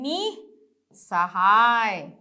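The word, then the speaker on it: निःसहाय: फिर है निसहाय, निसहाय। नौ में ही मात्रा है तो वही उच्चारण आ जाएगा ह का, निसहाय।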